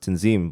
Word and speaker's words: Tanzim: example is like my name it's like prominently pronounced tenzin but i just pronounced it because i've been